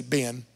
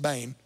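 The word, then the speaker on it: בן: The word bane. We say ben. It's actually pronounced bane.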